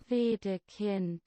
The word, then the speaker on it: Wedekind: How do I pronounce that? Wedekind.